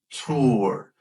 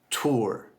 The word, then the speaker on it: tour: So tour, you're going to round your lips to get that ooh sound.